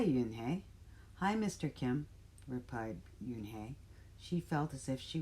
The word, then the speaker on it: Unhei: turned to joey she nodded slowly yes it's pronounced yin hey and it means grace mr kim added yoon hey joey said slowly this time perfectly it made